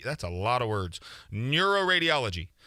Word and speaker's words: neuroradiology: a lot of words neuroradiology neuroradiology seven syllables yeah don't put the